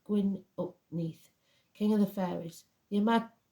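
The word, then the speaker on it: Gwyn ap Nudd: the hunt or even gwi uput pronounced GN up Neath King of the fairies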